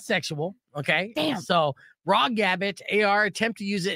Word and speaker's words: raw gabbit: for me please yes it's the word raw r a w and gabbit it's like rabbit but with a G raw gabbit I feel like when